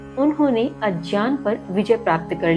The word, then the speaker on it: अज्ञान: कुछ व्याख्याओं की माने तो यहां इस नींद को अज्ञान अर्थात अज्ञान सही उच्चारण होता है अज्ञान।